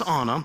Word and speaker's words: Anna: And Elsa and Anna, I had to pronounce it correctly. I've been saying Anna for a while, but it's Anna.